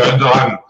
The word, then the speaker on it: Alderaan: C'est pas comme ça que ça se prononce. Si, il y a quelque chose. Non, c'est Alderaan.